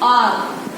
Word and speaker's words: hour: हम इसको ना हावर पढ़ते ना हॉनेस्ट पढ़ते. We don't read it. Why? Because H is silent. H is silent. Silent मतलब इनको बोला नहीं जाता. Okay, H is silent. We speak R.